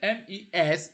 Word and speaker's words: mes: Then the MES, you know it, it is the possessive plural. CES is also it's the it's possessive plural. TES is possessive also. So MES you pronounce me, TES you pronounce te, SES you pronounce se.